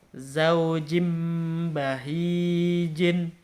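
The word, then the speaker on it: زوج بهيج: Jadi ingat, ketika ada huruf nun mati atau nun sukun atau tanwin, dia bertemu dengan huruf ba, maka membacanya itu mengganti mengganti nun atau tanwin di situ dengan huruf mim, gitu ya, diganti dengan huruf mim.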